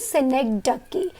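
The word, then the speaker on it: synecdoche: Students ना इसके pronunciation बहुत गलत करते, याद रखना इसका प्रोनाउंसिएशन इज सिनेक्डकी।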